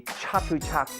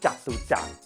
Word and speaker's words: Chatuchak: It's not ch. It's closer to a j or a j sound. For example, the Chatuchak weekend market is actually the sound of jaw, as in Chatuchak.